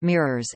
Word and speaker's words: MYRORSS: The multi-year reanalysis of remotely sensed storms (MYRORSS), pronounced MIRORSS, NSSL and the National